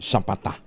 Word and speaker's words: sapata: Ayun naagigat Romy Jose Gina sapata pala ang pronunciation non sapata.